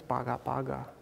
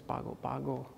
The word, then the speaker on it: Pago Pago: And in his village in Sumatra, these are described as Paga Paga. But colloquially, they're pronounced as Pago Pago.